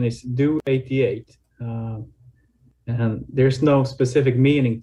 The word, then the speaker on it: DO88: what does it really mean well the correct pronunciation is do 88 and there's no specific meaning to it it's